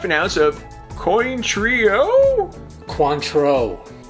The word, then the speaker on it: Cointreau: Add a half an ounce of coin trio Cointreau. Huh? Cointreau. Sorry, control? Okay, contrail? Coin truck? Coin purse? It's pronounced Cointreau, like Montrachet with a C.